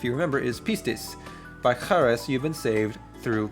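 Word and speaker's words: χάρις: Number five charis. Again, we have that X-looking thing in the beginning. It's not ch- like in English, it is ch- and we have charis or charis, which is grace.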